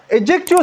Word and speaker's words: adjective: तो अच्छा एडजेक्टिव students ये बाज लोग इसको एडजेक्टिव बोलते हैं। लेकिन ये एडजेक्टिव प्रोनाउंस नहीं होता है। यहां पे डी साइलेंट है।